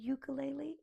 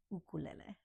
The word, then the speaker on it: ukulele: So it's not a ukulele, it's an ukulele, the ukulele, my ukulele, right?